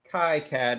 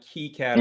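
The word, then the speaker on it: KiCad: in the chat says i say kai cad not key captain yeah his name okay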